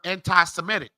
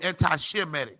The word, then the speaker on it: anti-Semitic: That's why you get the term anti-Semitic. It comes from Shem. White people ain't even saying it right. They're so damn stupid. Anti-Semitic. It's supposed to be anti-Shemitic, dummy.